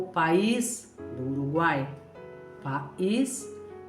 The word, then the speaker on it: país: Quando eu insiro o acento agudo, ficaria país, que é o meu país. Eu vivo no país brasileiro. Eu vou para o país da Venezuela. Eu vou para o país do Uruguai.